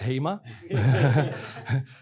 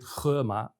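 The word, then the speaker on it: Hema: um a shop you might think this is hmer there were quite a few journalists at the time that thought that HMA was becoming active in in China but in Chinese you actually pronounce it kma and it's word play on the Chinese word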